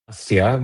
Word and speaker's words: Agastya: Martin, let's bring in our next guest, Agastya, founder and CEO at Zeya Health. How are you? I'm doing great. So help me out and tell me how I properly pronounce your first name. Agastya, but you can call me for sure.